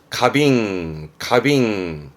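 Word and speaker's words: 花瓶: 가빙.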